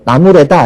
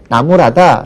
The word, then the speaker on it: 나무라다: 주책 없다 이렇게 표현하시고 뭐 나무래다 이런 표현하기 딱 좋 좋거든요 하지만 그렇게 잘못 발음하지 말고 나무라다 라고만 발음해 주시면은 학생들은 그냥 그대로 따라할